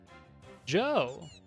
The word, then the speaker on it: DJO: Pronounced like you're saying Joe, the D is silent. Oh. Joe!